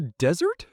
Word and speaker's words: desert: The hot, dry place with sand is a desert. You put the stress on the first part, but the sweet food you eat after a meal is dessert. You put the stress on the second part.